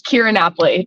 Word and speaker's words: Keara Napoli: It's Keara Napoli.